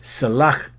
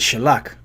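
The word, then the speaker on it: סְלַח: instead of saying like if you say forgive me or excuse me it's Salak yeah oh so luck but some brother says Sherlock you know and it's not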